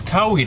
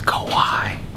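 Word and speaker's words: kawaii: you pronounce this shirt it's cowi though right yeah something like that it's Kawai yo Zoe still out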